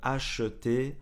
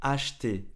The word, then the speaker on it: acheter: le frigo alors acheter quand on parle vite encore une fois on ne prononce pas vraiment le e au lieu de acheter on dit acheter acheter ok je dois absolument